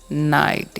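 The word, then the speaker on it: night: हैं हाई ठीक है और इसे पढ़ते हैं नाइट यहां पर भी जीस साइलेंट होता है ठीक है अब इन सभी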